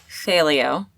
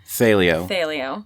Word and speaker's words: Thelio: Well, it is Thelio. Thelio. Yeah, I mispronounce it all the time.